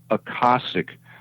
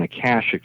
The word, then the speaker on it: Akashic: He said, yes, it is, but it's pronounced Akashic rather than Akashic, the way we pronounce it on Earth.